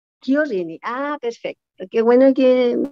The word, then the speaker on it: Chiorrini: No, con la CH en italiano se dice como K, Chiorrini. Chiorrini, ah, perfecto.